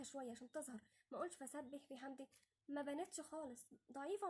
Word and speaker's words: فسبح: الباء مشددة، لازم نعرف ان الباء دي اذا كانت مشددة او اي حرف مشدد معنى كده ان احنا بننطق حرفين، حرف ساكن ومتحرك، لازم ننطق الاثنين، ما نقولش فسبح اولا ما حققناش الكسر، وتاني حاجة ان انا ما نطقتش غير باء واحدة، لا هنا لازم نقول فسبح، اولا نطقت الشدة وكسرت كويس حققت الكسر. فهنقولها ازاي؟